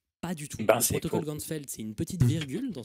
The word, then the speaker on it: Ganzfeld: Et en allemand, champ entier, ça se prononce Ganzfeld.